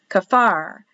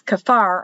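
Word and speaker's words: כפר: village of whatever and it's kafar on the sign but a lot of times when they speak to you about where something is a destination they leave off the ka and they'll say far far so the signs will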